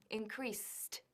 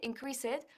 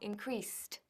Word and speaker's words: increased: Ahora, fíjate que he dicho increased, increased. Al ser una S, se dice t, increased, increased. No se dice increased, no, sino increased.